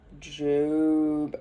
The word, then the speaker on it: Job: esther tomorrow we start job spelled like job but it's jube which i'm really i've